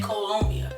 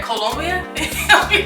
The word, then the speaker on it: Colombia: talking about columbia and i say columbia it's spelled c-o-l-o but i'll be like where colombia she's swedish why so